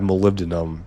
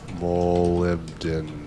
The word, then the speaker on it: molybdenum: molybdenum because the rock line was completely full.